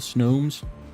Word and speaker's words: Snom: can have all the snowmes I'll have all the snobs oh wait it's Nam you have the book it's nam s-n-a-h-m in that case it's in an official book gotta listen to it